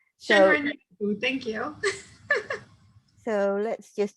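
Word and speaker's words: 森林浴: Shinrin Yoku. Shinrin Yoku, thank you.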